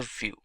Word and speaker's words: Vue.js: complete web application solution view. GS is commonly referred to as View and pronounced as vuejs or view is rightly so now why